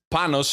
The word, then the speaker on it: Panos: way so share with us that that that pronunciation of your name Panos my name is Panos it's like the shorter version of panot I'm